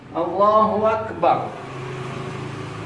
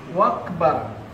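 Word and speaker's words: الله أكبر: Allahu Akbar. Jadi akbar dia baca wakbar. Allahu Akbar. Allahu Akbar. Wakbar, apa arti wakbar? Juga tidak sah.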